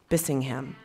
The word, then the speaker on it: Bissingham: Bissingham.